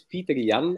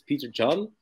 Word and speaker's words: Pieterjan: It's Pieterjan, actually. So it's Pieterjan, Pieterjan, mm-hmm.